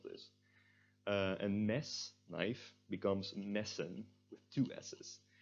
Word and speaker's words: messen: We need to preserve the vowel sound of and we do this by having two S's after the E. If we only had one E, it would be pronounced mason, because then it would be tense.